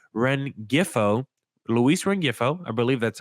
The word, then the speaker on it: Rengifo: being realistic, how about Luis I have trouble pronouncing his name. Rengifo, Luis Rengifo, I believe that's how you pronounce it, from the Los Angeles Angels.